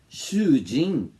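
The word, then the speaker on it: 囚人: Shujin é prisioneiro. Entenderam? Preste atenção na pronúncia. Shujin é o seu esposo. Go-shujin, esposo dos outros. Shujin, com um a mais, é um prisioneiro.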